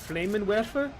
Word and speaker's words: Flammenwerfer: It's in German. It's pronounced Flammenwerfer.